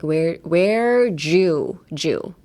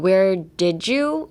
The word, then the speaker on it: where'd you: Even though there is no J in this phrase, I would still say pronounce it as a J, like where Jew. Like not where did you, or like don't try to pronounce the D. Change the D to a J in your head.